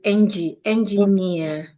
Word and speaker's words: engineer: Remember engineer ends in e r. So you're stressing near says engineer the ref the referee and the engineer are friend.